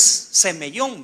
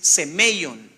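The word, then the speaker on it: σημεῖον: siempre molesto y digo no es semyon porque se escucha como semillón pero es semon semeon es una señal en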